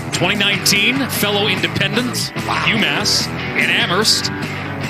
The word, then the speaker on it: Amherst: fellow independent umass and amherst silent h 56 points it's been